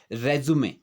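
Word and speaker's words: résumé: ये रेज्यूम नहीं है, यहाँ पर हम इसको जो है रेज्यूमे बोलेंगे, क्योंकि ये है हमारा जो डॉक्यूमेंट होता है जिसमें हम अपना बायोडाटा लिखते हैं। इसका जो उच्चारण होता है रेज्यूमे होता है।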